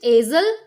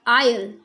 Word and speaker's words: aisle: Is it easel? No, this should be aisle, aisle, not easel.